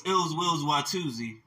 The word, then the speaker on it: iLLzWiLLz: Yes, so it's iLLzWiLLz, and that's ill will with two Z's, and it's spelled iLLzWiLLz.